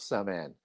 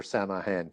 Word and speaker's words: Samhain: And this Jack is the oak king who's the leader of the hunt of Sean or Samahan depending on how you want to pronounce that.